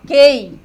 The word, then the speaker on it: queijo: O mesmo acontece aqui, ó. Ó, queijo, guerra. Então, aqui nesse campo, nós temos o dígrafo.